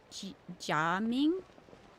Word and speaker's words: Gaming: It's pronounced Jaming.